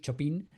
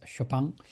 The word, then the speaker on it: Chopin: we say Chopin, but for sure it's not Chopin, it's Chopang. So he was born uh